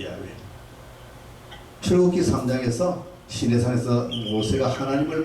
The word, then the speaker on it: 야훼: 하나님의 이름이 여호와죠. 히브리 말 발음 그대로 하면 야훼입니다. 야훼.